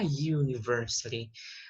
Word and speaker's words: university: a universidade né mestre esse you ele é considerado uma consoante então eu vou dizer a university a mesma coisa com